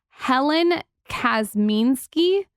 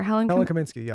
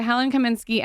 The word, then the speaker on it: Helen Kaminski: ever seen look at how cute it's by helen kasminsky oh yeah i've heard of that brand how do i forget i'm sure you pronounce it i pronounced it wrong lauren lauren